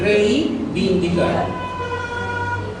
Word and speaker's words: reivindicar: Con una N después de la I, ¿no? Sí. Ya, eso es barbarismo por adición. Le ha agregado una letra que no le corresponde. Es reivindicar.